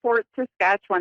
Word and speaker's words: Fort Saskatchewan: How do I pronounce where you live? Hi, so it's Fort Saskatchewan, Alberta, Canada.